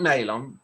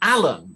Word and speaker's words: Allen: i said look it's it's not nail on but that's fine i don't mind it's it's it's like an allen so you say allen